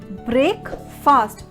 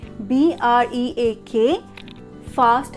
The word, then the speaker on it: breakfast: Now how we pronounce it as breakfast because of the spelling B-R-E-A-K, fast, F-A-S-T, and because of that F-A-S-T we usually say it as fast, but it will be breakfast, that is F-U-H-S-T, first.